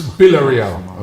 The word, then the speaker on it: Villarreal: That's it's Villarreal, not Villarreal.